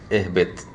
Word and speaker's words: اهْبِطْ: So we don't pronounce the hamzat al-wasl in the word ihbit, right? Unless you start from it.